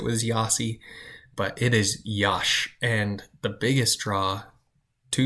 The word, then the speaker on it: Iași: The next city that I lived in, some people will pronounce this Iasi, but it is not Iasi. It is Iași.